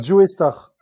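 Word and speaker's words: Joestar: Ah il a pas il faut dire Jo Star. Non non non là tu me trolles. Oui voilà c'est pour c'est qu'en gros c'est Joe Star c'est la prononciation du personnage de l'animé Jojo Bizar aventure.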